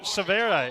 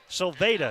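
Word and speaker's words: Silveira: enzo savera is a 6-10 sophomore forward sylveda excuse me from sao paulo brazil that v sounds like a d wearing number 44.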